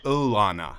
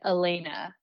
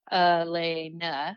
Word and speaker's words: Alana: is a little weird, your name is spelled Alana, but pronounced Ulana, like phonetically. How does that even happen? Okay. I think you got that information from Roy, and it's actually Elena. Elena.